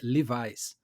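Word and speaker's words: Levi's: Um caso por exemplo clássico que é leves que na verdade a pronúncia é rivais outro exemplo assim outro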